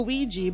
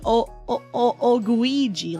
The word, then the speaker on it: Oguigi: well I mean okay I pronounced it like a Ouija but no it should be o o guiji like a g so like a guy rather than rather than guys I say it Jai